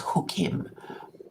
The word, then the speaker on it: Chukim: It's spelled like Chuchim, but it's pronounced Hukim.